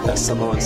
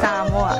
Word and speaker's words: Samoa: And I love the way you say Samoans say Samoa. Samoa. Whereas, like, us sort of Westerners say Samoa.